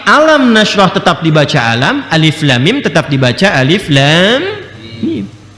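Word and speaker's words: الم: Alif Lam Mim sampai sekarang masih Alif Lam Mim, tidak pernah dibaca alam, kan?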